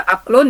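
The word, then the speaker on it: عقل: Jadi dibacanya kalau kita ambil ya aqlun.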